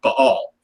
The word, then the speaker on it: Baal: And the name Beelzebub is often associated with the Canaanite god Baal, or if you're pronouncing it correctly, Baal, because there's a little apostrophe between the A's there.